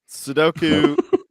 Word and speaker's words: Sudoku: Sudoku.